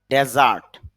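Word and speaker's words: desert: উদ্ভূত হওয়া ডিস্ক্রাইব বর্ণনা করা ডিস্ক্রিপশন বর্ণনা না ডেজার্ট ডেজার্ট উচ্চারণ হবে যখন এটা নাউন হিসেবে ব্যবহার করব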